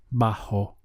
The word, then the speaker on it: bajo: in Spanish is bajo bajo notice the strong H sound here bajo and the word for pressure is presion press e on how do you say under pressure bajo press e on now